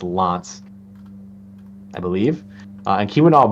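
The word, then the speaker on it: L'Anse: There's a different pronunciation for that, but um Oh, it's a it's Lance.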